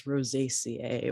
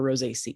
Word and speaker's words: Rosaceae: family also known as rosaceae or rose ce depending on how you say it um and it